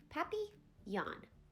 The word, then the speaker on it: papillon: like our neighbor's dog you say it like this puppy yawn in French it means butterfly I helped mrs.